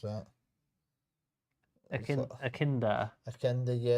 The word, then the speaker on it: echidna: I have no idea how to pronounce that. Akinda.